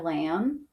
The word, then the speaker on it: lamb: a blend and and we have a B at the end we call this silent B because we can't really hear it when we say lamb so we'll put it